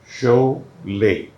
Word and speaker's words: Sholay: या शोले, हाँ। तो पीपल स्पेल्ड करेक्टली जो पढ़ते थे, बट हमने सोचा एक उससे अलग हो जाए और दूसरा के LAY में कोई सेकंड प्रोनाउंसिएशन नहीं होगी। शोले, शोले।